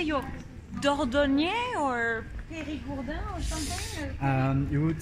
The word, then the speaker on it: Périgourdin: Do you say you're Dordogne or Périgourdin or something? You would say Périgourdin. I am Périgourdin. Okay, so you're basically very are you very proud of being Périgourdin, of course, Alexandre?